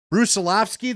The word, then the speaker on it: Brusilovsky: All right, give me the pronunciation on this guy's name again. Brusilovsky, that, right? Yes. Okay, so Mark looked it up because he did a TED Talk. Daniel Brusilovsky is the new head